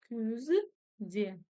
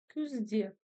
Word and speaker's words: Күзде: И когда в казахском языке мы видим с вами вот эту вот недоделанную букву у, она звучит именно как ü. Надеюсь, вы все поняли. Тренируемся. Күзде. Күзде. Кстати, в транскрипции можете записать букву ю, вам сразу будет все понятно.